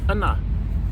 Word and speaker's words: Unna: Okay, so the final one that I'm going to talk about is the Hilleberg Unna, and that's how you pronounce it because I looked online, and it